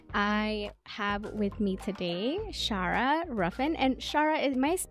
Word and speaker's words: Shara Ruffin: hope you enjoy I have with me today Shara ruffen and Shara am I pronouncing your name right can you let me